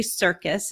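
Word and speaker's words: Serkis: like that so I highly recommend that Andy Circus it's spelled s-e-r-k-i-s not like the circus you do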